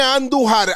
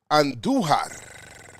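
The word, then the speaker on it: Andújar: Roll your R's when you say Andujar.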